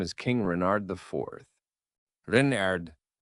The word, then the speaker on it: Renard: Renard, with the accent on the Ren.